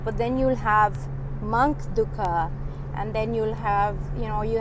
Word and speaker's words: dukkha: And we say dukh, but in it's dukkha, for all the Americans and anybody who doesn't speak Hindi, because it's spelled like D-U-K-H-A, because I guess you can't pronounce it as just D-U-K-H, otherwise people will say duck.